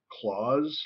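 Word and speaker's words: Klaus: not seen I think I pronounced Claus like Santa Claus Santa Claus yes Santa Claus okay Santa Claus thank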